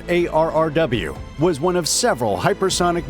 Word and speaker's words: ARRW: The AGM-183A Air-Launched Rapid Response Weapon, pronounced ARRW, was one of several hypersonic missile programs that